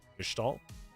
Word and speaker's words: Gestalt: Gestalt is actually pronounced. You're saying it correctly. Gestalt.